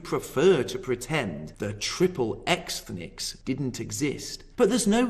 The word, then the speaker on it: Xthnics: The following is taken from an essay called Triple Xthnics, Jews in the American Porn Industry. And yes, I did pronounce that correctly.